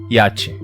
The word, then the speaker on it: iate: Mas eu acho que Adriano diz iate, em 2 sílabas. Então o I só acompanha o A da primeira sílaba, assim como o T acompanha o E da segunda sílaba. Iate. Na minha pronúncia, iate, o I é vogal. Mas em iate, ele é consoante.